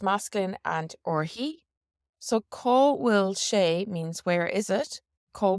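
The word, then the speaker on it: Cá bhfuil sé: So caw will she means where is it? Caw will she. Caw will she. Now again, remember we said that BH should be pronounced like a V, so it could be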